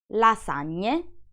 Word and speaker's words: lasagne: Then we have a GN plus E, which is pronounced gne, gne. These three words are the same as the previous ones, but on the plural form. Here is how you say them. Montagne, lasagne, compagne.